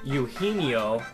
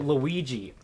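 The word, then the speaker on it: Eugenio: gets called on and instead of pronouncing his name yino he pronounces it Luigi how do you up that bad yes there is no l in yino and he was just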